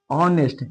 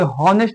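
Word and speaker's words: honest: जैसे देखिए एग्जांपल में ऑनेस्ट, एस यू एन एस टी, ऑनेस्ट बोला जाएगा। इसके हॉनेस्ट नहीं, एस से शुरू होता है तो इसके मतलब नहीं हो जाएगा हॉनेस्ट।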